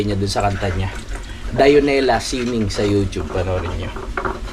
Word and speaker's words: Dionela: Hanapin niyo lang sana hindi pala dionela dionela pala mga kapanalig ang tunay na pagbigkas doon sa pangalan dionela magaling na songwriter yun